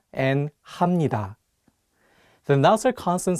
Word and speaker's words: 합니다: For example, if you just read the Hangul on their own, you might want to say 입니다 and 합니다. But the correct pronunciations are actually 입니다 and 합니다.